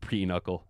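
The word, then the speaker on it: pinochle: It's pronounced peuckle. Another card game similar to Uker, but better. All right. Look at you guys with your card supremacy. We got a bunch of peuckle supremacists in the chat going on.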